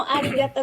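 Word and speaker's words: ありがとう: Ya, jadi makanya arigato sebenarnya tulisannya pakai OU, tapi kalau kita kedengeran kan arigato aja karena emang O-nya yang panjang, dan gozaimasu kalau S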